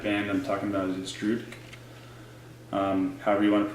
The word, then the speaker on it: Drudkh: I'm talking about is Drudk. However you want to pronounce it, I think it's just pronounced Drudk though.